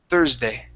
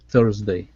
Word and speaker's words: Thursday: other thing here is the S here in the middle THS now here we want the Z Thursday Thursday good good now again